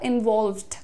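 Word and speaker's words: involved: Pronunciation कैसे ठीक करेंगे इसका, इन्वॉल्व्ड, वॉल्व्ड, एल और वी का ब्लेंडिंग है यहाँ पर, इन्वॉल्व्ड। ल पे तुरंत व जा रहा है आपका, ठीक है।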